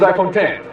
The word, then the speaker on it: iPhone X: Yo guys, Jonathan here, and this is iPhone 10. Now to clear things up, yes, it is spelled out iPhone X. The correct pronunciation, just like Final Cut, just like Logic, is iPhone 10, the number.